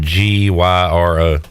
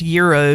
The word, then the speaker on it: gyro: you say the word g y r o I have always pronounced it gyro right I feel like that's the Americanized way to say it it's fun to say